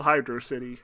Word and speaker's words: Hydrocity: The second level is called Hydro City or Hydrocity Zone.